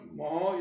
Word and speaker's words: mho: Ohm inverse, या ohm inverse को अपन मोहो भी बोलते हैं। देखो कैसे याद रखना है, ओम की स्पेलिंग OHM, तो इसका उल्टा कर दो MHO, मोहो।